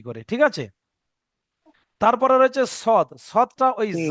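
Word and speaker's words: ص: তাহলে সিন এবং সদ উচ্চারণ একই হুম। স্থল, কিন্তু সিনটা বারিক আর সৎটা পুর, অর্থাৎ সিনটা মুখটা বড় রাখতে হবে, সৎটা মুখ গোল রাখতে হবে, মনে থাকবে।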